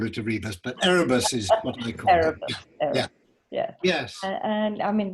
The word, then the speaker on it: Erebus: of the ship called eribus to have i said it right no no well erebus i think but i don't know